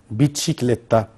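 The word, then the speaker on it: bicicletta: بسكليتا، فهي قريبة جدا من اللغة الإيطالية، احنا عندنا النطق بتاعها بيتشيكليتا.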